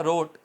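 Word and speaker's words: wrote: और ने आवाज की इसी तरह रोट W silent R ओ टी ई रोट ठीक है इस तरह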